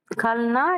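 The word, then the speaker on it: कल: கல்னா நேற்று நாளை. கா போட்டு அடுத்து இல்லு போட்டிருக்கு. காணான்னு சொல்லணும். அடுத்து லானா தான் எழுதியிருக்கு. ஆனா உச்சரிக்கிறப்ப எப்படி சொல்லணும்? இல்ல சவுண்டு தான் சொல்லணும். கலன்னு சொல்லக்கூடாது. கல். கல்லுக்கு பொருள் நேற்று நாளை.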